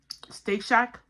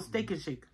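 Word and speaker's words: Steak 'n Shake: Like from Steak Shack. Steak Shack or Steak and Shake? I say it wrong. Steak and Shake. Steak and Shake. I say Shack.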